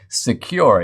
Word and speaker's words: Sekur: way yes there is secure it's spelled s-e-k-u-r offers secure instant messaging